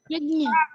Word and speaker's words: यज्ञ: यज्ञ प्रोनाउंस करो इसको। यज्ञ।